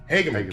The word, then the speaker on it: Hageman: Hageman.